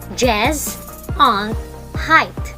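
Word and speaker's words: Gesundheit: that is a funny looking word which is pronounced jazz on height it is the german word that wishes someone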